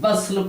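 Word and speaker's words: bustle: बस्टल, ये बस्टल, लेकिन बस्ल इसको पढ़ा जाएगा, ये टी साइलेंट रहेगा। बस्टल लिखा जाएगा, बस्टल पढ़ा जाएगा बस्ल।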